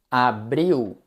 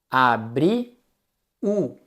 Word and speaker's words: abril: Abril. Veja que no português brasileiro o som de L no final não é el, não. É o som de u. Abri u.